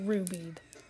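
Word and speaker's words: Ruby'ed: By the way, if you ever use this, it's pronounced get rubied.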